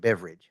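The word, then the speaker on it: Beveridge: thank you Mr ever is that how you pronounce it beverage beverage Bevy Ridge beverage Bevy Ridge thank you beverage like a beverage um I just wanted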